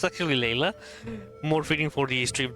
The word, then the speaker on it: Layla: Lilas? He got into some trouble during a clairvoyance session. Pretty much Layla. It's actually Layla.